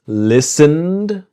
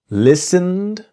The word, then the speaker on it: listened: listened. So the T is silent. Listened. And we imagine that the E. So the T and E in listened are silent.